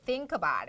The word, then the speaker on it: think about: 발음하실 때 think about. K가 여러분 연음 처리돼서 think about, cup out처럼 된다는 것도 유의해 주세요. 오케이, 좋아요.